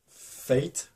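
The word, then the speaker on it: Phaet: Et en fait, on va suivre Fate, donc ça s'écrit ça s'écrit P-H-A-E-T, mais ça se prononce Fate comme le destin en anglais. Donc Fate va devoir faire un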